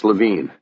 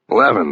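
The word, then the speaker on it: Levin: He had pronounced the name here and on the phone earlier as Lavine. I said the name rhymed with heaven. Leaven, then he said, getting it right.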